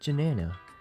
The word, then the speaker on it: Janana: Come on, Marty, you should be jamming along with Janana. It rhymes with banana, and this is the Shanna show.